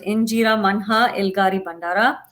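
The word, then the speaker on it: Inyarrimanha Ilgari Bundara: So I know it's INYA, but you pronounce it Injera Manha Ilgari Bandara.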